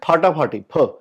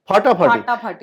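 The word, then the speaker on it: ফাটাফাটি: Actually the pronunciation is फाटाफाटी, फाटाफाटी. बट जो थोड़ा सा सराटे से बोलते ना, फाटाफाटी.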